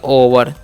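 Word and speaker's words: over: सबको याद रखना है ओ वई आर तो ओ का तो चन को दिए ओ और भी का व और ई आर का अर् तो हो गया ओवर उसी प्रकार से ओ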